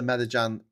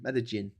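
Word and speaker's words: Medellín: So, Pablo Escobar, head of the Medagan C um the uh Medagan uh what's it called? Medigin. Medin. Jin, sorry. Jin LL is pronounced J, isn't it?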